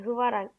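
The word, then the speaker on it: Hwarang: Çünkü Kore'yi alırsanız Kore'nin arkadaşlar özel birimi Hıvarang, yani Hıvarang diye okunuyor. Varang'tır ya da.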